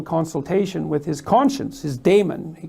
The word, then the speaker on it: daemon: And then he went off and had a little consultation with his conscience, his daemon, he called it. I think you actually pronounce it demon, but it means conscience for our purposes.